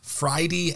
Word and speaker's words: Fridie: so folks what we're talking about is the fridy outdoors app now did I pronounce that correctly you sure did perfect so